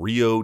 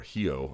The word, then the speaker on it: Rio: on June 3rd in Rio De Janeiro Brazil or hiio I believe is how it's properly pronounced but don't hold me